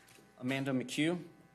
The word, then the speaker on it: Amanda McHugh: and state you may call your next witness Amanda McHugh you swear or affirm and Tes you shall